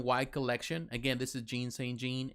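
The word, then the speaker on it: Jean St-Jean: collection again this is jean saint jean and he is phenomenal uh john john actually if you pronounce it right but um man he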